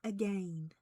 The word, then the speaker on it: again: But oh the mo most of pain is to love and not be loved again because you know you have to say it like that again because it rhymes with pain again.